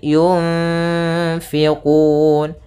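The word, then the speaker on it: يُنْفِقُونَ: Kemudian di sini ada bacaan ikhfa pada lafal nun mati bertemu dengan fa, yaitu cara membacanya adalah nunnya kita samarkan kepada huruf fa, kemudian ditahan dengungannya atau gunnahnya. Sepanjang 2 harokat.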